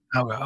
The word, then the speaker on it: Mauga: We've got a new hero coming for Overwatch 2 named, I can't pronounce his name, Mauga? Mauga, okay.